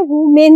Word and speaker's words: women: This is वीमेन, ठीक है, वुमेन नहीं होता, ये वीमेन प्रोनाउंस होता है।